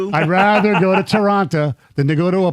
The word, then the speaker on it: Toronto: You don't pronounce the T. Toronto. I always thought it was Toronto. No, no, no. Toronto.